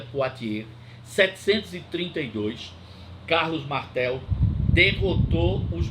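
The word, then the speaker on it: Poitiers: batalha de pote e se escreve poi Thief mas a gente pronuncia Portier 732 Carlos Martel derrotou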